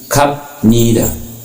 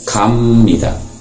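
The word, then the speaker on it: 갑니다: Jadi k ditambah benida berarti kapnida. Tapi cara bacanya adalah kamnida. Kapnida dibacanya kamnida. Contoh yang kedua, saranghada.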